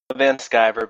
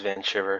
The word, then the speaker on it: Vanschiver: name first things first van skyver but everybody says van shiver so either works that's guy okay because you take the german name and you pronounce it like you're an american so everybody's gonna go with the german pronunciation not the random american pronunciation well i'm american so